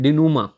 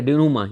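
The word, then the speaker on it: dénouement: का तरीका सीख लो, इसे हम यूँ बोलते हैं डिनूमा, ठीक है, डिनूमा, ये पूरा नहीं बोलता मेंट वगैरह, डिनूमा इसकी ये होती है प्रोनाउंसिएशन।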